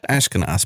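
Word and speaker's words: Ashkenas: as Jeremy a shinus since we didn't how to pronounce his last name and then we learned it's ashkinos but uh sadly no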